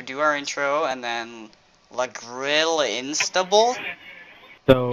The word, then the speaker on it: La Grille Instable: La Grille Instable, and, yeah, this is Halo 4 Custom Games. You said it wrong. You said it wrong. It's La Grille Instable. That's what you say in French.